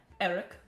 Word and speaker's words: Arik: Is there anything that, if you need anything, Eric, our bartender, that's A-R-I-K, would be happy to help you, as so far as he ever Pronounced displays Arik.